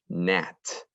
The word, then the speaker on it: gnat: horn all right ready nat the small gnat buzzed around my head nat we don't hear the g this is a small